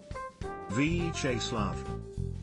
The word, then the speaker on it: Vyacheslav: So when I got on the phone with him, I asked, and it was three syllables. Vyacheslav.